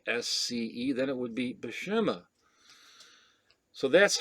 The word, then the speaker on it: Buscema: And he proceeded to tell him it's Boo or Bu, and you don't pronounce the S, and then Sema, Buscema.